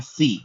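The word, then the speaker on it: Phi: 21वें अक्षर को कहते हैं फी। अगेन इसको मैथमेटिक्स में फाइव बोला जाता है, बट इसका उच्चारण है फी।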